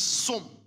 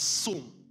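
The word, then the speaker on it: צום: The word is som. What is som? S-T-T-S-O-W-N. T-S-O-W-N is pronounced as som.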